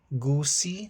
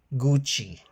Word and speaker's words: Gucci: Luxer brand pronunciation Versace. No, it's Versace. Hermes. No, it's Hermes Gucci. No, it's Gucci.